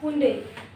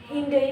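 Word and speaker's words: Hyundai: Adidas AIDS Zaara Zahra Zaara हुंडे this is हुंडे हिंडई भी होता है। रनो दिस इज़ रनो रनो रनो टी साइलेंट रहेगा।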